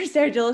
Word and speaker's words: Stargell: Stargell, soft who is- Soft G.